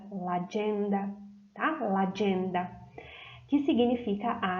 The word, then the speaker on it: l'agenda: Prestem atenção na pronúncia, que se une o artigo com a palavra l'agenda, tá?